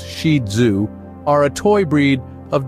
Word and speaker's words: Shih Tzu: stealing hearts for centuries shius pronounced shidu are a toy breed